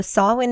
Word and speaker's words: Samhain: the Harvest celebrations is what it is so sawin is how you pronounce it it is spell um it looks